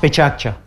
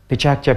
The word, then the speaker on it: PechaKucha: Did any one of you hear the word Pechakucha? Pechakucha is now in 520 cities in the world. It's pronounced Pechakcha. Pechakcha, Pechakcha, Pechakcha.